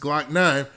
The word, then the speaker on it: Glokknine: year old jacavius smith whose stage name is pronounced glock 9 because the two men